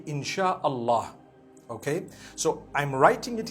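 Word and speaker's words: Insya Allah: They pronounce the S-Y the way we pronounce S-H. So they can write it how they want, for as long as when people read it, they read it Insha'Allah.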